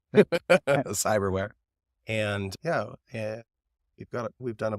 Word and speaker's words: Psyberware: yeah, it's spelled pretty funny. It's PSY for where. Cyberware.